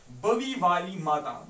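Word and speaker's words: Bawe Wali Mata: Is locally known as बवी वाली माता, बावी वाली माता, बवी वाली माता जिस तरीके से आप प्रोनाउंस करोगे खुद, लेकिन आपको याद रहना चाहिए ये है BAWEWALIMATA, बावी वाला माता।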